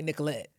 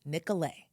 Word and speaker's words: Nicolet: We know that you want to say Nicolet. So we're going to say this kindly because of course we're Minnesota nice. But listen closely. The actual pronunciation is Nicolet.